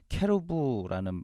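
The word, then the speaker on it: כרוב: 속죄소 를 향하게 하고 예 그룹이라는 히브리어는 케로 브라는 발음 인데 천사 를 가리킵니다 그룹은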